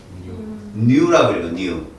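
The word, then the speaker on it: ν: 물리학에 가면 이렇게 쓴다 이거 뭐라고 읽어 V 이러지 마라 라틴어야라고이 뉴 그래서 가끔 얘를 하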